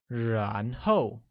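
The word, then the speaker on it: 然后: at the remaining vocabulary then translates to Ron Ho which is said with the mid rising tone on a and a falling tone on Oh like Ron ho good give will become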